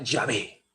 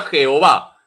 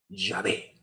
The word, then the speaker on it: Yahvé: aquí tenemos las cuatro letras sagradas y se pronuncia llave no se pronuncia Jehová queridos hermanos de la legión de María se